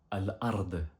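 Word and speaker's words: الأرض: Et la terre s'écrit comme ceci en arabe et se prononce Al-Ard.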